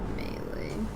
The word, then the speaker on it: melee: In the dictionary, it says it's melee.